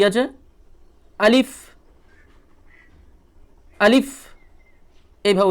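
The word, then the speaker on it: ألف: নেই তো দেখুন প্রথমে আছে আলিফ কি আছে আলিফ আলিফ এভাবে উচ্চারণ করবেন আলিফ উচ্চারণ করতে গিয়ে বাতাসটা একটু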